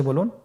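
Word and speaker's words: ب: বা হরফে টান হবে, এক আলিফ টান। আপনারা আমার সাথে বলুন বা।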